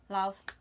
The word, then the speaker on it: Lauv: I think it's love, you know. I don't think it's sounds love. Sounds like love. I'm pretty sure I've heard it pronounced. I'm pretty sure I've heard it pronounced love.